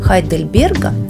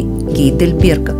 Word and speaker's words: Хайдельберга: Университет Грайфсвальда был основан в 1456 году и является четвертым старейшим в Германии после университетов Хайдельберга или Гейдельберга, как было принято произносить это название ранее, Лейпцига и Ростока.